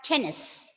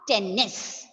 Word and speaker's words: tennis: It should be read as tennis, not tennis. Okay. Wherever you see YELLOW is yellow. DIFFICULT is difficult. COLLEGE is college. Okay, so no need of stressing the consonant, doubling of the consonants. You have to read it as just single one.